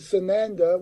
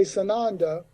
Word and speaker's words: Sananda: that came about well depending on where you are in the world first of all your either pronounce it samanda which the British for example and some of the Americans others would say sananda but that just depends